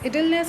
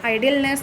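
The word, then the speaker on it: idleness: इडलनेस का मतलब होता है आलसीपन, ये प्रोनाउंसिएशन में ध्यान रखिएगा, आइडलनेस नहीं होता, इडलनेस होता है, आलसीपन।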